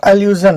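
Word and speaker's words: allusion: Achilles या अल्लू अर्जुन, अल्लू मैंने इसलिए लिया कि यहाँ पे अल्लू आया हुआ है, ALLU, बिल्कुल वही उच्चारण है, अल्लू, तो एल्यूजन है।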